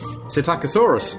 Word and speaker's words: Psittacosaurus: No, it's Psittacosaurus. Psittacosaurus. Psittacosaurus. Nobody's going to click on this. P-S-I-T-T-A-C-O, Psittaco, so with a silent Greek P at the front.